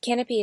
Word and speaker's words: Kanopy: And Canopy is spelled Kanopy.